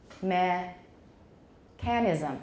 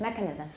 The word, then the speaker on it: mechanism: times last semester so make sure you do not say meh canism okay nobody say mechanism or I'm gonna it's great all right so no mechanism it's mechanism mechanism mechanism and it's not stressed